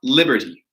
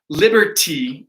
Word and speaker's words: liberty: So I also saw in the chat, there was one question about liberty. So, that T, liberty, in the pronunciation, it's often dropped and it's often liberty. And it sounds like a D, liberty.